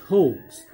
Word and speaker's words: hoax: it's a X yeah you pronounce holes not hot but yet when you say hawk it is completely wrong because it is English